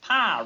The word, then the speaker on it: Pyle: Pyle rhymes with file.